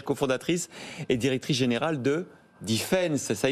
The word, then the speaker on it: DFNS: et directrice générale de Defense. Ça y est, je sais le dire maintenant. C'est écrit DFNS et ça se prononce Defense.